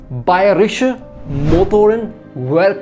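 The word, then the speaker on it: Bayerische Motoren Werke: एंड उसका जो full form है वो कुछ ऐसे बोला जाता है, बायरिश मोटोरन वर्क है, जो कि इंग्लिश में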